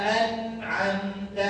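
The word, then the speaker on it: أَنْعَمْتَ: An'amta. Jangan sampai keliru buah nih kekeliruannya. Pakai hamzah an'amta. Ini maknanya telah membuat merintih, ngejerit gitu ya. Nah, gitu. Kalau pakai hamzah yang benar apa ain?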